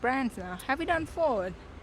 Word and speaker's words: Ford: ก ิ ด Ford It's more Ford Not forward okay Ford It's the